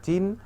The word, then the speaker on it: চেনা: প্রথম এখানে আছে কিভাবে চিন যোগ আ কিন্তু আমাদের উচ্চারণটা হচ্ছে কিভাবে চেনা আ চেনা অর্থাৎ চি থেকে এ তে পরিবর্তিত হয়ে যায় চিনার পরিবর্তে হয়ে যাচ্ছে